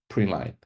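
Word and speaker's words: println: the point of entry we have syst out print Line This is pronounced print line it enables the printing of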